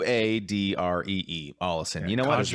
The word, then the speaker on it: Ollison: Ollison. Yeah, you know what? There's no accent. And I've been saying Ollison. Ollison. Yeah, it's not Allison. It is Ollison, I think.